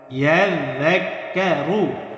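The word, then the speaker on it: يذكر: পড়তে হবে ওয়ামা ইয়াযযাক্কারু ইয়াযযাক্কারু কোনো টান নেই কোনো টান হবে না ওয়ামা ইয়াযযাক্কারু ইল্লা হামজা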